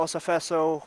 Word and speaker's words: Osafeso: to the Osafesos, but just ending Olafella Osafeso with an O at the end there. Osafeso, got it.